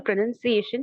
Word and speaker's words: pronunciation: I so far again uh even in regards to pronunciation so it is pronunciation sometimes people uh people